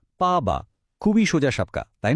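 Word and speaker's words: 爸爸: এখানে যে ব্যাপারটা খেয়াল রাখতে হবে সেটা হলো এর টোন। দেখুন, বা শব্দটা 4th টোন বা একটা পতনশীল টোনে বলা হচ্ছে, তাই এটা হচ্ছে পাবা।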